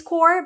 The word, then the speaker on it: Corps: like the Peace Corps, is pronounced without the P and without the S.